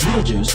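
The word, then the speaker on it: Betelgeuse: supernovas literally at any moment the massive star real jews yes that's really how you say it it's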